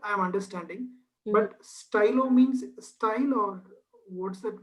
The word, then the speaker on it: stylo: So okay, whenever you're pronouncing I and whenever you're pronouncing Y, put as many e's as you can. Okay, not in the spelling but in the pronunciation part.